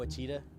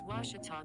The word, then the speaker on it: Ouachita: it's your moment i've heard people say oh a cheetah oh wichita oh a cheetah is it pronounced searching for washi at a baptist university